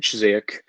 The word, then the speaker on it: Ziyech: Is that how you pronounce it? Yeah, Hakim Ziyech.